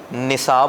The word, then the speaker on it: نصاب: نصاب ہوتا ہے, نصاب نہیں ہوتا.